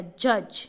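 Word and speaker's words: judge: जज।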